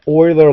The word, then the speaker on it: Euler: enjoyed the oiler line here the oiler line is spelled e u l r it's a little unusual so um that is a summary of the oiler line